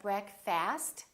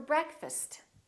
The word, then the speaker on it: breakfast: let's meet for breakfast don't say let's meet for breakfast it's let's meet for breakfast I'd love to go